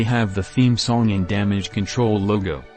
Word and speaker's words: Damage CTRL: the theme song and damage control logo they say control even though it's spelled as control so we are not calling it damage ctrl but damage control is the name just confirming it for